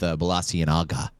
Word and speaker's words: Balenciaga: She is collaborating with Balenciaga.